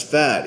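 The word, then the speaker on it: Phat: his his name but it's spelled p-h-a-t so like cool that's fat even though people don't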